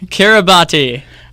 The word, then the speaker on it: Kiribati: okay i RI b 8e z hi yeah Kiribati okay here's what you said I think a